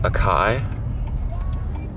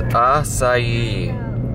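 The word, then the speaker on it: açaí: and I'm gonna tell you how you should pronounce it. Some people call it Akai, but no, it's right here. I don't think you'll be able to see it. Oh, the light's going crazy. It's acai.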